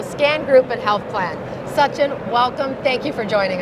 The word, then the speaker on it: Sachin: to be with you thank you for pronouncing my name the way uh my parents intended for it to be pronounced I appreciate that you're welcome